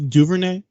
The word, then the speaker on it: Duvernay: you never know man that guy that was Duvernay is how you pronounce it yeah yeah he uh he looked